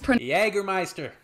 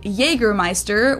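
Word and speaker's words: Jägermeister: would be Wicked dude anounced yiga ma in germana Meister English speakers usually say Jer Meister which is pretty much the same just with a pretty thick accent and people also often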